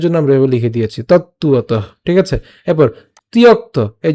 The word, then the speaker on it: তত্ত্বতঃ: এই জায়গাটা আমরা ভাঙলে এভাবে পাই, কিন্তু উচ্চারণের সুবিধার জন্য আমি আবার বলছি, উচ্চারণের সুবিধার জন্য, মুখের জড়তা কাটানোর জন্য উচ্চারণ করব তত্ত্বত।